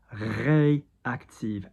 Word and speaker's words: réactive: So peau réactive, ré because of the accent, okay?